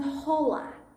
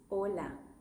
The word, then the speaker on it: hola: It's just does you have to remember that it's not hola. Hi, it's hola. H is silent in Spanish.